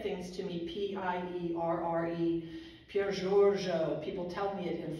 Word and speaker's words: Giorgio: And when you say Giorgio in Italian, it's not Giorgio. It's just like the name George with an O at the end. And the accent in that is on George, so you just say Pier Giorgio.